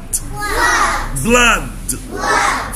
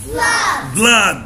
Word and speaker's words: blood: هنا بقى شورت او اللي بتتنطق اه. بص الرمز الصوتي بتاعها كده. دي بنقول flood, blood, flood, blood.